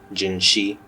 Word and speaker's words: Jinhsi: everyone jiny is live gin she or however you want to pronounce her I always call her you know gin she because that's how it's in the game so these pulls were